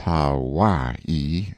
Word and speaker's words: Hawaii: on my Noble Steed Hawaii pronounced Hawaii stress on second syllable a beast that cost